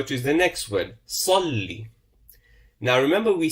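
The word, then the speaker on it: صلِّ: And remember, we said with the Kasra, it's a sharp downward movement. Downward pronunciation. Salli. It's not Salle. Salli.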